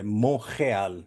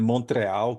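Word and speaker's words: Montréal: é Quebec mesmo aqui os quebecois eles gostam de dizer é Monreal Qual é a pronúncia Cristiano mon como que é mas minha mãe é brasileira Então pode dizer Montreal que tá Tudo bem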